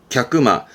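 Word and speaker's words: 客間: 발음은 갸끄마.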